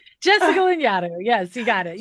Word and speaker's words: Lanyadoo: And today I have Jessica Lanyadoo. Now I'm questioning myself. Okay. Yeah, you did We it. You just did a talked great about job. this. Like Jessica Lanyadoo.